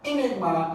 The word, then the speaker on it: enigma: word Enigma all right Enigma is a special word and it has a stress on second here going to have a